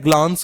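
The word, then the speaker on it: glance: यहां पर ये जो प्रोनाउंसिएशन है ग्लांस की, ये जरा इस पर गौर कर लें। ग्लांस को हम ग्लैंस भी पढ़ते हैं, ग्लैंस, ग्लैंस, और इसी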